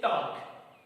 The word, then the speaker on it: talk: Okay, यहाँ पर टॉक है लेकिन यल साइलेंट।